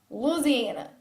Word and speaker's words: Louisiana: have a career dana from baton rouge louisiana louisiana is how you say it what's your least